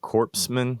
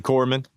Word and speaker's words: corpsman: Marines you were a Corman correct FMF doc yeah combat Medic or whatever you want to call it some presidents don't know how to say the word corpsan properly so it's actually Corman we've been a part